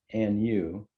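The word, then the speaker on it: Anew: at least 10 years a new pronounced and you and you as a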